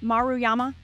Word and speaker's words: Maruyama: on Hannah did I get your name SP pronounced right maruyama you did and actually I'm no one